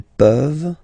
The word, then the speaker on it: peuvent: Tu peux, il peut, elle peut, nous pouvons, vous pouvez, ils peuvent, elles peuvent. Okay? As usual, this ending, this ENT ending, you write it, you don't pronounce it. Okay? Peuvent, peuvent, peuvent.